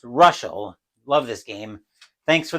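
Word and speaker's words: Reuschel: Pronounced Ruschel.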